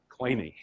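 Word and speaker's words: Kleene: string has an infinite cleany closure um in English people normally pronounce this as clean that's not how he pronounced it his family was German in Germany this would normally be pronounced clay no that's not how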